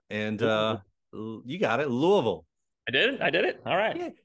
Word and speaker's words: Louisville: got to make this people usually screw up on the they want to say Ville still and it just sounds like that you do the second